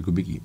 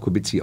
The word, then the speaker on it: Kubicki: Polnisch würde ich auch Kubicki ausgesprochen. Ja, aber... Ja. Also ich bin ja, wenn Sie in Polen sind und Ihren staatsmännischen... Das war meine... Dann werde ich Kubicki angesprochen, darauf reagiere ich mittlerweile auch.